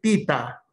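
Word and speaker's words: theta: No, normalmente se le en el alfabeto griego dice tita, ¿ya? Tita, ¿ya? Pero comúnmente se le llama teta, nada más.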